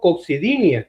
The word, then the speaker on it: coccigodinia: John Servo para conversar con nosotros acerca de cómo es que le dice, doctor, coxidinia. ¿Cómo es? ¿Cómo se dice? Coxidinia. Coxidinia. Sí, todos los dolores en el coxi se llaman así.